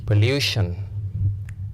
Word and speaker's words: pollution: Pollution. This word ending in T-I-O-N. This word penultimate, second to last. 1, 2. You count from right. 1, 2. And this one has the long vowel sound U.